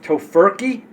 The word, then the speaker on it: Tofurky: called To Toe I always say it wrong tofurky tofur they make a meal um for the